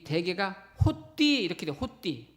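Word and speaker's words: ὅτι: 호띠, 발음상 호띠인데 영어로 번역을 하면은 because 왜냐하면, 이런 뜻이 되죠.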